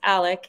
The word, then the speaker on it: Alex: name and in fact his name is pronounced Alec even though it is spelled Alex um so I'll just